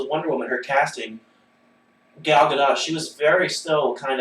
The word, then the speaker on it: Gal Gadot: No, on Jimmy Kimmel, she pronounced it herself, and she says more emphasis on the T.